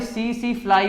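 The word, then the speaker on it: tsetse: है किसकी वजह से, जो हमारी सीसी फ्लाई होती है, इसको बोलते हैं, टी साइलेंट होता है इसमें, तो सीसी फ्लाई, उसकी वजह से क्या होता है, स्लीपिंग सिकनेस हो जाती है।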